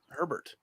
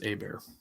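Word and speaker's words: Hebert: but thought it was Herbert I am like 90% sure it's a bear how's it spelled because I I thought it was it's spelled like Justin Herbert but without the r okay I I I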